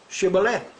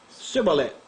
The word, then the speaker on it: Shibboleth: If he said no, then they would say to him, then say, Shibboleth. And he would say, Sibboleth. For he could not pronounce it properly.